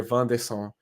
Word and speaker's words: Wanderson: So basically what happened now, Inter has this player, Van de Son, which is spelled Wanderson, like Anderson with a W.